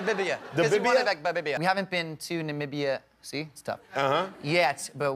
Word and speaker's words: Namibia: from what country it's really hard country to pronounce Namibia Namibia yes who says it wrong all the time everyone goes in the bib eeeh no sir Namibia yeah visited Namibia yet see you just did